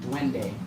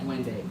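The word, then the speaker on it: duende: Dwende. Dwende. Okay. How do you spell that?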